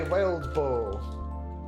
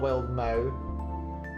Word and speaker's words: Wildbow: Let's see, Worm by Wildbow. I'm pretty sure it's Wildbow, not Wildmow.